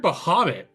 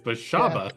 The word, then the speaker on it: Bashaba: I heard Bahamut at one point in time. It's Bashaba.